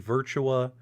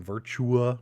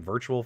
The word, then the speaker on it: Virtua: hard time because i kept pronouncing virtua wrong i was saying virtual fighter you know what i